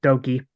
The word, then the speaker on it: Doki: Perry goes well with Doki yes it looks like it says dookie but you pronounce it doki Perry hits a short